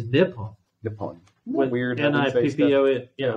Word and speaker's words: Nippon: I think it's Nippon.